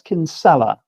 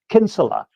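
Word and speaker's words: Kinsella: i n uh by Thomas kinel or actually I pronounced that wrong as well kinsela I've been told by my Irish colleagues is how it should be pronounced Thomas k P insula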